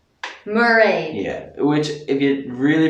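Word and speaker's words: Mairéad: This name is Mairead. Mairead. Yeah, which if you really pronounce it right, it's actually Mairead, but just saying it quickly, it's Mairead.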